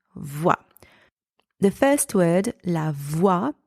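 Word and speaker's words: voie: even way um and the letters o and I together in that word are pronounced W and the final e is silent in the second word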